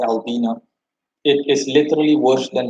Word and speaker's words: Albina: suriname they flee to albina a-l-b-i-n-a that's how the city's name is pronounced and they flee to